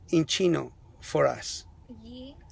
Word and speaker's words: yi: E. So now, why you say E instead of Yi? Why you corrected yourself? The Y is red, so that means like don't pronounce it.